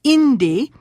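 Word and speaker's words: inti: which is I'm yaku so for son the word is Indy the next to the last syllable is the first syllable in this case Indy and to say it's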